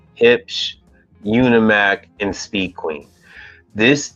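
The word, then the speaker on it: Huebsch: brands IPO primis hip I know how it sounds but that is how you say it hip unimac and Speed Queen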